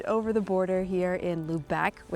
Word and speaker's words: Lubec: So, we left our campground in Campobello Island, popped over the border here in Lubec, which is how it's pronounced. We know that now. Lubec.